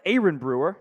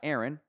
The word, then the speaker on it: Aaron Brewer: guard stuff too uh I have learned the text pronounced Aaron Brewer not Aaron Aaron Brewer uh will likely be